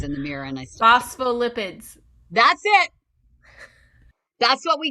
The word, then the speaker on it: phospholipids: this 10 times in the mirror and I phospholipids that's it that's what we got it's made